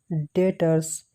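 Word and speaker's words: debtors: Under group लेंगे sundry डेटर्स, या B silent है इसलिए डेटर्स पढ़ेंगे।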